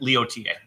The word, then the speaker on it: Leotier: And how do you say that? Leo TA. Leotier. Oh, so you got an extra R in there for pronunciation.